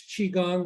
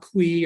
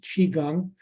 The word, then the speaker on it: Qigong: what Qigong is again it's Qigong like cheese doodle or Cheeseburger um not Qui or Kwai it's pronounced Qigong and um we talked